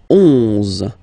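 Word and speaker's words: onze: 10, 10, okay, then 11, 11, okay, so O plus N give you the sound on, on, 11, 11, okay, final E doesn't exist phonetically, 11, okay, 12, 12,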